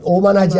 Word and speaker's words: 오만: 이 네 나라가 있고, 이제, 오만하지 않은 나라. 오만이 있는데, 이걸 만오라고 읽는 사람들이 있대요. 위에부터. 이렇게 오만.